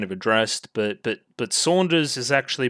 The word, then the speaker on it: Saunders: I've already kind of addressed but but but Saunders is actually pronounced Saunders I I said it right the first time it's just like the japaneseness of it all getting through and making it sound like Sanders so I mean they don't really have an